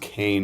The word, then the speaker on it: Keene: So it's spelled Keene University, but it's pronounced Kane University, Oh, all right?